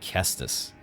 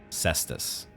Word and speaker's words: cestus: mean we say ke no it's not kestus cestus ballista bolts Buckler and